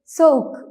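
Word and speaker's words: soğuk: ആക്കിയാണ് ഉച്ചരിക്കേണ്ടത് for example സോക്ക് സോക്ക് സോക്ക് means called ഈ പദത്തിൽ യുമുഷാ ഗെ രണ്ട് വോവൽ ലെറ്ററിനിടയിലാണ് വന്നിട്ടുള്ളത് അതുകൊണ്ടുതന്നെ യുമുഷാ ഗെ സൈലൻറ് ആയി സോക്ക് എന്നാണ് ഉച്ചരിക്കേണ്ടത് സൗക് യുമുഷാ ഗെയ്ക്ക് ശേഷം ഇംഗ്ലീഷിൽ നിന്നും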